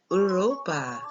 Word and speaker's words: Europa: And in Spanish, it's pronounced Europa.